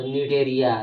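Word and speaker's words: Cnidaria: तो निडेरिया लेकिन सी से लिखा आता है मगर सी साइलेंट होता है बोलने में।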